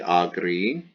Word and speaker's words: agri: It's the letter I pronounced E, agri.